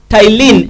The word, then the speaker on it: ptyalin: And so when you eat food, when food enters into the mouth, it is broken down by an enzyme called ptyalin enzyme. The word ptyalin is spelled P-T-Y-L-I-N.